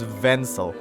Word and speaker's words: Vencel: my god that trick there is vensel pencil it rhymes with pencil his name can i call you a pencil i'll call you oh my god his full name is vencel vents yes these pencil